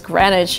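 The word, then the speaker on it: Greenwich: where time starts so it's actually written green which you would kind of read in this way by the right way to say it is granite the same with an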